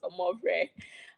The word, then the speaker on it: Omore: That's how it's pronounced, Omore.